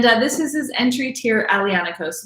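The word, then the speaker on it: Aglianico: is his entry tier alianaco so that g of the grape is silent so it's just alliance some people would even make the l silent as well so ionico that's kind of a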